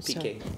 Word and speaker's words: Piqué: How is it pronounced again? Piqué. Piqué, yeah.